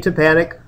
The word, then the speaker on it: tympanic: Most people have trouble pronouncing this, but I tell them, think about in the orchestra, those big kettle drums, they're called timpanis. you know, because tympani, tympanic should help you remember those out here.